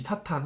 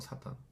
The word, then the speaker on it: 사탄: 악한영 사단인데이 사탄 혹은 뭐 사단 원래 발음 사탄이 맞습니다.